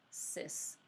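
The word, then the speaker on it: cis: number Z is our sis beta some people's make that a hard C and say kiss but we need weird I say our sis data and it's the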